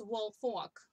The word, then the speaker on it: Woolfolk: It's Woolfolk.